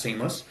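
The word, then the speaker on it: CEAMLS: Morgan State University, uh, Center for Equitable Artificial Intelligence and Machine Learning Systems, pronounced Seamless.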